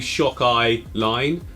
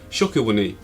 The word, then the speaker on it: Shakilwani: I mean, that could be Shock Eye Line, but I'm not reading it as that. It's Shokilwani.